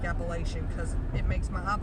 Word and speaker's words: Appalachian: teach the people of Washington about the word Appalachian I'm from there I know how it's supposed to be pronounced you are not from there therefore you